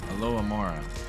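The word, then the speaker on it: Alohomora: love that new spell Alo Amora that's how you say it yes nice I got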